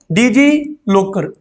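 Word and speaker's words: DigiLocker: डीजी मतलब T silent कर दो, डीजी लॉकर, डीजी लॉकर कहते हैं शॉर्ट में।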